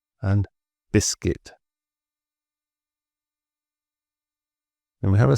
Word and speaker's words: biscuit: So the U is really just there for spelling and clarity. It's not for speaking, as these examples show. So guess, guitar, guard, guest, and biscuit.